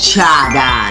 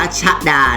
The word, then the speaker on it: ชาดา: เล็ก ค่ะ สี ดำ ชา ดา นะ คะ ไม่ อ่าน ว่า ชฎา นะ คะ ชาดา ค่ะ อีก เจ้า ของ ชื่อ ว่า